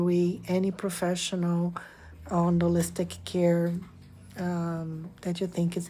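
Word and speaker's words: Kerr: website carewellness to catch care is k e r r but you say care like you care get because my name is Scottish and that's how you say it care not C okay thank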